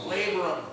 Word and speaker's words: labrum: I didn't tear my labia, but it sounds like that. Who's ever in the medical field, whatever it's called? Labrum. Okay, thank you. Yeah. I'll share a quick story. Well, I didn't know. So labrum is one, but labria is plural, right?